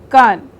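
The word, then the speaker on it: Cannes: at the khan festival you have to say khan like khan festival so this is which movie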